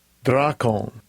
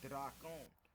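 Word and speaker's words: δράκων: All right, let's see how you say it real quick. I know Strong's G 1404. Drakon. Okay, drakon.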